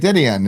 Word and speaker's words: Dedeyan: It is beautiful, and the key is Dedeyan. To say it fast, because you say it really like Dedeyan, and it's like you just it's almost like one syllable.